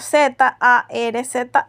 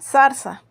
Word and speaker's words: zarza: misma pronunciación por ejemplo en España la palabra Zarza compuesta por Z a rza a se pronuncia Zarza mientras que en las Islas Canarias y Andalucía simplemente sería sarsa y bueno es precisamente de